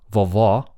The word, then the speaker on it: vovó: o, yeah, and then the bottom word, vovó, ó, that is another vowel sound in Portuguese, and court is somewhere in between.